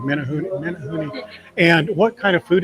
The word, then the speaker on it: Menehune: Menehune. Menehune. I was wrong. Menehune.